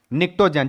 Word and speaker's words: Pnictogen: निक्टोन क्या नाम है निकटो जन जहां पी साइलेंट है पढ़ते हैं निकटो पी